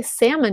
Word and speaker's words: salmon: So I learned the British version, salmon. And in America, you say salmon. You just lose the L.